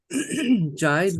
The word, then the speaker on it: Jide: Is it Jide? Jide, would you be my listener? Yeah, Jide. J. Jide. Jide. GD. Jide. There's an accent on the E.